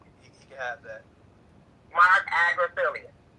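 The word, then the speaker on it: Agnifilo: You know, it's, you know, and by the way, it's Agriphilius, the lawyer's name that you was trying to pronounce.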